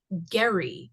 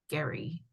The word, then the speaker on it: Gerry: Maybe it is Gary. It It's just a hard It's a hard G. I know that. Maybe I'm misspeaking the E. And maybe it is Gary, but I'm thinking they're saying Gary.